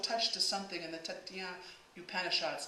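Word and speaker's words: Taittiriya: There is also a touch to something in the Tatien Upanishads, and I'm pronouncing that not quite correctly. Taititia.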